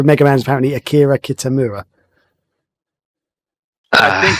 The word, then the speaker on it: Kitamura: Oh wait, sorry, I'm not going to pronounce it. It's Akira Kitamura.